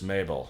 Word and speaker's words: Mabel: My name is Mabel. It rhymes with table. It also rhymes with Grable.